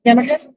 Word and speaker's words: yarmulke: Yarmulke?